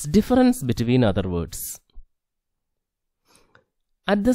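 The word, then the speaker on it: différance: In order to describe how meaning is generated from a text, Derrida coins a term called difference, not difference, difference, pronounces as difference.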